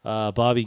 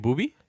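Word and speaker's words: Boobie: Bobby Gibson. Who's Or that? Daniel Gibson. You mean Booby? Yeah, Booby. Sorry, I said it wrong.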